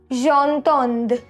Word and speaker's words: j'entends: So we have liaison. So the pronunciation becomes j'entends.